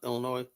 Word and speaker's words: Illinois: You know, Illinois. S is silent.